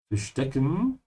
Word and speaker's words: verstecken: Verstecken is to hide. Remember to pronounce the V like an F, ja?